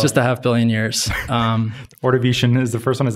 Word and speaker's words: Ordovician: Ordovician is the first one.